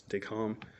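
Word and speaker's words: Descamps: DECOM, it's spelled DECAMPS, but it's the lovely French, so it's DECOM.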